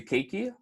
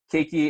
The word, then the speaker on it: keiki: word now so we're gonna go over to keiki which is the Hawaiian word for child and